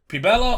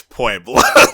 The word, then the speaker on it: Puebla: We have Pubella on June 19th and the 20th. It's Puebla. Puebla!